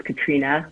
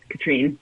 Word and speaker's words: Katrina: It's Katrina, like it has an A at the end. It's not Katrine.